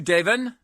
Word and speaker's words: Deven: in practice Think Tank good morning to you Devin good morning Larry goodbye I did pronounce that right did I yeah you did